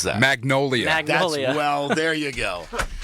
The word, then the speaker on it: Magnolia: me uh what did I say is it Mangolia what what what I say the name mongoid